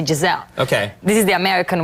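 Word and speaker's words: Gisele: been mispronouncing her name we say I in the end of the L here you eat the I you know you only say Jazelle okay this is the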